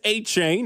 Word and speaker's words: Etienne: Last year, Travis Etienne, that's how he pronounces it.